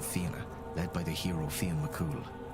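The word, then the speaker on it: Fionn mac Cumhaill: Concerns itself with the exploits of hunters and bards especially the Fina led by the hero Fen Mcool. Oh, so that's how she's name he's pronounced.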